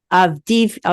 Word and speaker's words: Avdiivka: Am I pronouncing that right? Avdiivka.